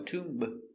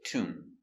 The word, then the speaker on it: tomb: Remember, no B, no tube, just tomb.